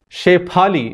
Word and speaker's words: Shephali: A phenomenon I see is a lot of people have Sanskrit names which have the P sound, and they are spelt and pronounced as F.